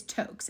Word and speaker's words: Toaks: Is Toke's, and it's spelled Toaks.